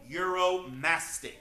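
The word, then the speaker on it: Uromastyx: very odd 70 name this is the Egyptian euromastic that is spelled u-r-o-m-a-s-t-y-x we call him Muro for short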